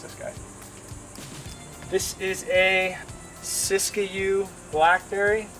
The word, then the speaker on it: Siskiyou: This is a Siskiyou blackberry. It's spelled S-I-S-K-I-Y-O-U, Siskiyou blackberry.